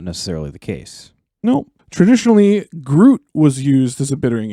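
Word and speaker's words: gruit: Groot spelled like fruit, but with a G. Exactly. Yep. Not Groot like I'm Groot, but Groot like fruit.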